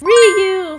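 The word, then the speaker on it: Ryu: but let's go and double check survey says Ru from Street Fighter is that's how you pronounce it and coming in with number 16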